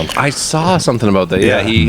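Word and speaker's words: Islay: a little bit of Pete and smoke from Isa. Did I pronounce that right, Ruben? You did. Yeah, it's it's spelled Isl. If they've only ever read it, they would say is, but it's actually Isa and it's from a certain part of Scotland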